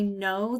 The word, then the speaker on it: know: going to remember that in the word no like I know the answer it starts with a silent K okay these two letters